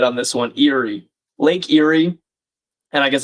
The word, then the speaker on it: Erie: Erie. Lake Erie. And I guess it sounds weird because it sounds like the word eerie, like creepy.